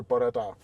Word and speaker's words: Bore da: It's more like bore da. Bore da. Yeah, that's more like it. Bore da. I'm slowly learning Welsh. I know araf, I know croeso, and now I know bore da.